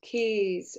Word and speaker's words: keys: Shoe rhymes with zoo and keys rhyme with peas.